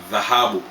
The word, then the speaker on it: dhahabu: Gold = Dhahabu Dhahabu = Arabic origin